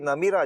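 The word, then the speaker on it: نمرة: मस्जिद न जो है इसको मस्जिद नमराह हैं लेकिन जो मुफ्ती साहब से आखरी इसका जो प्रोनाउंस मैंने सीखा वो मस्जिद नमीरा तो अब वो थोड़ा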